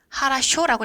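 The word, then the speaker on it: хорошо: 오픈도라고 쓰고 아크노라고 읽습니다 좋아라는 단어는 호러쇼라고 쓰고 하라쇼라고 읽습니다 언어라는 단어는 야식이라고 쓰고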